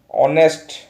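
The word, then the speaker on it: honest: तो एटा एज जेहेतु अच्छी एटी एज जेहेतु अच्छी ए बसब ना कहीं एटा केमिति प्रोनाउंसिएशन हुए ऑनेस्ट ऑनेस्ट होता है अ आसूची मु कौन कही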